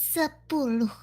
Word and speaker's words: sepuluh: For 10, it's sepuluh.